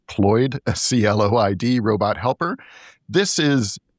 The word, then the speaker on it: CLOiD: One that stood out, I think, to us and to other people is LG's, I guess it's pronounced Cloyd, CLOID robot helper.